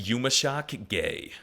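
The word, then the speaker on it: yumuşak ge: Even though it doesn't make a noise, the quirked up G has a big effect.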